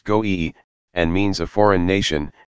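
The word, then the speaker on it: גוי: word minus vowels, and the Hebraic word for heathen is the three consonant word IEB, pronounced goe, and means a foreign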